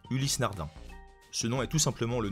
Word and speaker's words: Ulysse Nardin: numéro 8 ulysse nardin on entend parfois ulysse nardin mais la prononciation correcte et bien ulysse nardin sinon est tout simplement